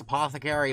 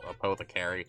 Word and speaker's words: apothecary: petal APO theary here I know it's pronounced Apothecary but the first time I saw this word I call AOE car so I figured we'